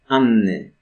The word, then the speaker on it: Anny: You'd say Anna in English, but Polish, whenever there's a double consonant, we pronounce them both. Anny, Anna.